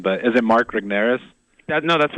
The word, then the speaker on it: Regnerus: No, Tim, early on in the book, you talk about the research, and I'm probably going to mispronounce his name, but is it Mark Regnerus?